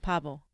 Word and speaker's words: pavo: It's pavo.